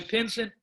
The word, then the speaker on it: Pinson: n pin as in pin son as in son all right but he